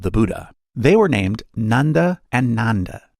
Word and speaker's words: Nanda: They were named Nanda and Nanda. Note that while the English spelling is the same, the pronunciation is different.